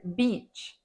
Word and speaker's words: beach: speakers is the word beach in Beach we pronounce the long vowel e sound if you mispronounce this word with the short vowel I sound it could lead you into big trouble make sure you hit